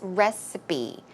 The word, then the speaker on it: recipe: but just in case the P sound here is re it's closer to a b sound so it's recipe recipe and and finally we